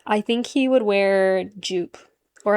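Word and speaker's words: Joop!: think he would wear Jupe, or I think it's actually pronounced Yoop or Yop. It's like a German brand, I think.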